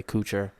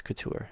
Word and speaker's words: Couture: and my family say kucher and that's i'm sorry but it's wrong it's it's couture yeah couture sounds more that's how it's pronounced right in france like couture the fashion line it is a french